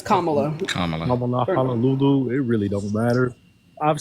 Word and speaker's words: Kamala: know what I'm saying that's not how you pronounce her name CA Kamala it's kamulu it really don't matter